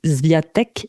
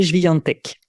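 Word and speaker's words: Świątek: Alors, si on prononce à la française, c'est Swiatek, Swiatek. Et bon, si vous avez envie de savoir le prononcer en polonais, c'est Swiatek.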